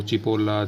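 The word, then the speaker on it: cipolla: यदि सी के बाद ई या आई उपयोग हो रहा हो तो सी को च पढ़ा जाता है। ये फॉर एग्जाम्पल हो गया चेंतो, चीबो, चिपोला, चेलेब्रे, बहुत सारे हैं।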